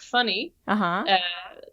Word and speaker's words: Fanny: in yeah yeah yeah it's more like funny but yeah so it's